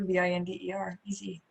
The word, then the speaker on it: Binder: And binder is like a 3-ring binder, Binder, easy.